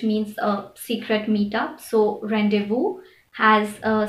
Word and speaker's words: rendezvous: is also never silent the only word that i can think of that has a silent z is rendezvous which is also derived from the french word which means a secret meetup so rendezvous has a silent set